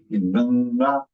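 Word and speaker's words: गङ्गा: As a result, it is pronounced as Ganga, Gang. Punctuation on your nose. Ganga, Ganga, Ganga.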